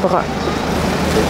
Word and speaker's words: brun: Donc, un chien brun, j'ai des amis français qui sont incapables de le prononcer comme moi, ils disent un chien brun, c'est la même voyelle. Donc, pour moi, c'est un chien brun.